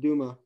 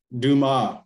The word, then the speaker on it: Dumas: In French, the D is pretty hard to pronounce for the English. So, but we don't pronounce the S at the end. So it's just Dumas. Dumas, right?